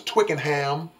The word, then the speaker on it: Twickenham: It's Twicken. Twicken rhymes with chicken. So it was Twickenham.